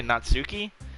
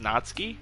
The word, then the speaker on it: Natsuki: to call her natski people say natsuki but I think it's pronounced natski which also just sounds better than natsuki so I'm just going to say natski um you said that